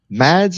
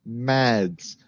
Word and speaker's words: MadS: Today we're going to talk about MADS, which I'm pretty sure is pronounced MADS and not M A Ds.